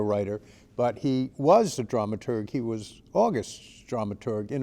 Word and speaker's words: dramaturg: your stories differently differently Todd so on the dramaturgy question you have this unusual position of not really being a drama Church how do you pronounce that is it dramaturg a drama yeah dramaturg yeah dramaturg Todd is